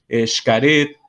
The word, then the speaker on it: Xcaret: Se pronuncia como J, pero otras cosas en México, ¿no?, que se escriben todavía con la X, aquella X antigua castellana, pero se pronuncian como J portuguesa, ¿no? Entonces, por ejemplo, Xochimilco, Xcaret, ¿no?